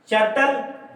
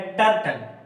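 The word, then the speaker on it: turtle: जो प्रोनाउंसिएशन होगा वो, अब देखिए अगर टी यू को च मानते तो टी यू च मानकर आर टी एल ई, तब ये हो जाता क्या? चर्टल। ये चर्टल होता, लेकिन इसका जो करेक्ट प्रोनाउंसिएशन है, उच्चारण है, वो है टर्टल, टर्टल।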